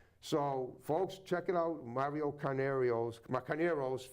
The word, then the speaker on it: Carneiro: So, folks, check it out, Carneiro's, sorry, that's how you pronounce it, right? There's no I in the end.